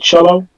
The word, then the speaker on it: Celo: It's a coin called Cello. Spell it for me. CELO. Oh, Okay. Like the instrument.